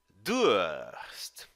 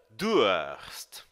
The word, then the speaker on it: Durst: Durst. Preste atenção à sua pronúncia.